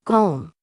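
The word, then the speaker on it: 곰: When a consonant miam is placed at the end of a syllable, it has the M sound in English, as when it is a first consonant. It's go. I'll add the consonant mium to it. It becomes gom.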